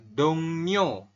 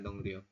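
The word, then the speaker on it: 동료: untuk kosakata yang pertama kalimatnya adalah dongnyo tulisannya dong ro dibacanya dong newo nanti audio listening itu bakal bacanya dongo ya bukan dong ro seperti itu kemudian artinya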